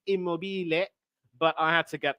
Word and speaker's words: Immobile: anything but immobile and I know that's not how it's pronounced in Italian it's immobile but I had to